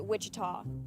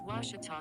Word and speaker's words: Ouachita: for was Baptist University back in Texas everybody pronounces it Witchita but really it's was was was how would you pronounce it was it's was Baptist University get it right it's was people